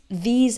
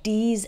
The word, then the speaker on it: these: When I hear someone pronounce these and those with a D sound, like D's and does, or pronounces think like sink, that's a giveaway.